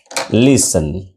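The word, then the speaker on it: listen: আচ্ছা ছয় নম্বর হচ্ছে লিসন লিসন লিসন এল আই এস টি এন এই টি এর উচ্চারণটা সাইলেন্ট থাকে কিন্তু হ্যা টি এন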